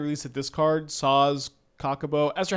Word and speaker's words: Chocobo: I've been eagerly awaiting the release of this card, Sazh Chocobo.